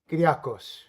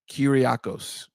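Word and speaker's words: Kyriakos: wrote right um oh he says it's pronounced kirakos you almost got it right is that before he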